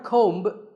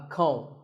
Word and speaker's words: comb: Not a comb, a comb. A similar sounding word is tomb. It's often wrongly pronounced as tomb, but the B is silent and the O is pronounced with an oo sound.